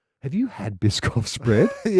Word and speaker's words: Biscoff: We've got the Bisoff which I have pronounced correctly for the first time ever and not called Bishoff.